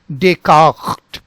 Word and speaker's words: Descartes: There is a Ghain sound, so that becomes Rene, Rene, and then this becomes Descartes, Descartes.